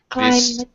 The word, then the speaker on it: climb: first first of all climbed the B is silent clim yeah this happens in